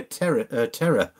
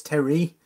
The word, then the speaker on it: Terry: Terry Rabidu, sorry, Terry, I keep calling you Terror, because I don't mean Terror as in Terror, like T-E-R-R-O-R. I just thought that was the way to pronounce it.